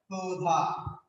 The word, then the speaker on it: ক্ষুধা: তাহলে কি হচ্ছে দেখো আমরা যখন লিখবো ক্ষুধা তখন লিখছি কয়ের উচ্চারণ হচ্ছে না হয়ে যাচ্ছে ক্ষুধা প্রশ্ন নাই ক্ষুধা কিন্তু যখন লিখছি ভিক্ষা, তখন লিখছি ভি আর ক, ভিক হর্ষচিহ্ন ক্ষয়কারে খা, ভিক্ষা।